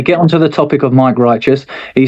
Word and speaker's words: Mic Righteous: And he was like, "These guys are all right that Mike wrongous, Mike righteous." He just mispronounced my name.